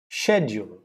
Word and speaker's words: schedule: pronounce the word schedule s c h e d u l e schedule now schedule is in british english and schedule is in american english so schedule and schedule